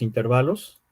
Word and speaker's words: intervalo: vimos, lo de los intervalos, ¿sí? Yo les comentaba a sus compañeros del otro grupo que lo correcto, bueno, es intervalo, es decir, la sílaba tónica es va, pero no va acentuada, ¿sí?